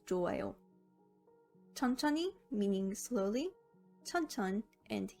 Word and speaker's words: 좋아요: Looking at each syllable separately, the pronunciation would be 촉 and 아요. 촉, 아요, but it's pronounced as 좋아요.